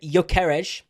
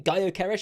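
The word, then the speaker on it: Gyökeres: it up front y yeres I've been calling him goeres apparently if you don't pronounce the G yeres who knows whether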